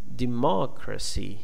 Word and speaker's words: democracy: Uh in the second example, democracy is different. The second syllable is stressed. Okay, the first one is unstressed.